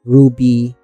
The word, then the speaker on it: RWBY: If you don't know Ruby again, R rwy, it's pronounced Ruby.